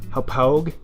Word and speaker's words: Hauppauge: This is known as the Hauppauge, that's how you pronounce it, Hauppauge HD PVR2 game capture box.